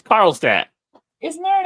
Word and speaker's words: Carlstadt: It's Carlstadt.